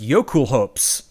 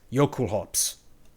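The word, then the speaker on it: Jokulhaups: i'm gonna have to spell this one it's pronounced yocool hopes but it's it's yokel like um um j-o-k-u-l like from norse h-a-u-p-s yo cool hops uh song metal yeah it's a it's a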